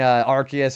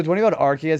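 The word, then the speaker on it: Arceus: a pronunciation guide for Oh, you mean Archus or Arus? I think so. Archus and Arus or whatever you want to say. They've used both those pronunciations in the anime, too. So, both of those are actually perfectly valid, too.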